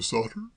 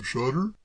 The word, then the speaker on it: Shotter: Sam Sauter? If you prefer it that way, certainly. I've always pronounced it Sam Shotter myself. Sam Shotter?